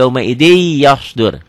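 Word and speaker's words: يَوْمَئِذٍ يَصْدُرُ: Tulisnya yauma idzin, dibacanya jadi yauma idzi yasdur.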